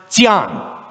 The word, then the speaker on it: Xi'an: Okay, X''ing, which is pronounced Xi'an, which is where the Mao Revolution began, but which is where the end of the Silk Road is.